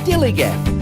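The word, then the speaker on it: DILLIGAF: That's spelled D-I-L-L-I-G-A-F, Dillygaff, and this is what it means.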